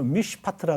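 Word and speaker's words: מִשְׁפָּט: 요 3번 이 정의라는 말 히브리 말로 미시파트라 그러는데 미시파트. 미시파트. 예. 아우, 네. 미시파트. 어떤 우리 히브리어 발음은 다 좋아요.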